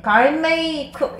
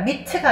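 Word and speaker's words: gourmet: 엄청 훌륭한 수학자라면 수학을 엄청 잘한다면 그리고 super athletic 아주 뛰어난 운동 선수라면 그리고 갈미 갈메이크 얘들아 미트가 아니라 티는 발음이 없고 네.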